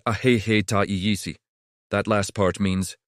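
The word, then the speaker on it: ahéhee': It's pronounced ahehe.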